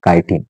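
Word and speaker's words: chitin: okay त्याच spelling बघा सी एच आय टी आय एन कायटीन त्या सेल वॉलला काय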